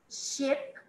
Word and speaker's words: ship: Ship. Ship. Sheep. Percebe como abre? Sheep.